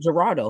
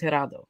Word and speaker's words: Geraldo: that was last thursday he called him gerardo his name is not gerardo his name is geraldo thomas learn how to pronounce that name respect some respect on